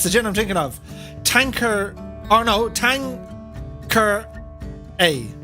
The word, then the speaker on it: Tanqueray: miss it um tanker it's supposed to be pronounced if it's the gin i'm thinking of tanker oh no tang ker a tankari or tanqueray yes i just the gin in